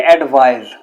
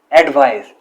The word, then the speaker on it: advise: इसको प्रोनाउंस करेंगे एडवाइस, तो ये ऐसे यहां किसका साउंड देगी? जी का, एडवाइस।